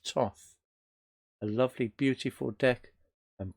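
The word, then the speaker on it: Thoth: Crowley deck also known as the Tov thick pronounced Tov although it's written th oth it's Tov a lovely beautiful deck and beautiful cardstock and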